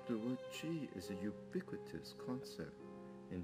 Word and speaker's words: Qi: And Qi is pronounced as Qi. It's not Qi, but Qi, which means breath, air,